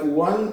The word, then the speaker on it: one: even of a syllable, or words like one and once, they start with the letter O, but they start with the sound W. Because W-O-N and O-N-E are the same sound, exactly, one, one.